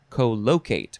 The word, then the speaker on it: co-locate: emphasizing the second and third syllable so i will say co-locate because the word locate is in there this is a transitive